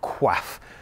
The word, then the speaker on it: coif: is a padded coif padded quaff c-o-i-f and i'm not sure how to pronounce that word and i'm sure that like many french loan words in english it was deliberately or maybe not deliberately ignorantly mispronounced and became said in a different way so i call them coifs this is the